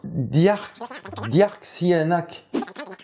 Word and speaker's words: Dearc: Du gaélique écossais. Et tu le prononces Dearchdyrc.